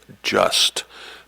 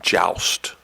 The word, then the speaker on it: joust: It could also be pronounced sometimes as just, but normally we pronounce it joust.